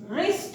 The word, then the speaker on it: wrist: WR के साथ हमेशा W साइलेंट होता है। इस W को जैसे कि WRIST, रिस्ट है ये, इस रिस्ट का अर्थ होता है कलाई, हमारी ये कलाई।